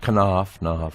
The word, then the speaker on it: Knopf: I don't know how to pronounce that. Knopf.